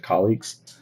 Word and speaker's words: colleagues: Trying to think of how much air I blow out with that K sound at the beginning of colleagues. With colleagues from many. Because I feel like maybe you're overdoing it a little, like too much air.